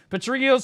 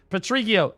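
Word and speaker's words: Patrigio: Patriio's special shop of secret bosses or boxes, sorry. During the event, Patriio, the night vendor in each town will have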